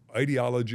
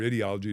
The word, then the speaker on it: ideology: and you know it ideology or ideology depends on how you want to pronounce it um matters and and